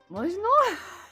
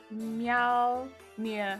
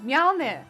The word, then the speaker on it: Mjolnir: Pronounced Mjolnir. Mjolnir.